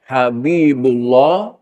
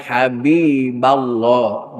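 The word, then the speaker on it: يا حبيب الله: Abdullah, asalnya Abdullah, Rasulullah, Habibullah. Ketika kemasukan ya nida, maka harus dibaca nasab. Maka bacanya ya Abdallah, ya Rasulallah, ya Habiballah. Jangan Habibullah, tapi Habiballah.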